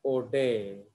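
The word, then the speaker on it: Oudet: तो इस साइंटिस्ट का नाम क्या है, आउटडेट, इसका प्रोनाउंसिएशन है ओडे, राइट।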